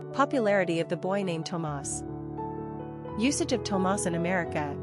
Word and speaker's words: Tomás: The main difference between Thomas and Tomás is where the accented syllable resides. Tomás has the accent on the last syllable, leaving us with a more energetic and upbeat ending.